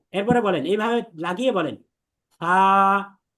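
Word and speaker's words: ث: অথচ এটা কিন্তু ছা হবে না, এটা হবে সা, খুব নরম পাতলা।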